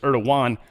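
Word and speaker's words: Erdoğan: Uh Roman, and the reason I say someone corrected me a while back and said it's Erdogan. Um Trump pronounced it Erdigan. So, I'm going to go with Trump's pronunciation.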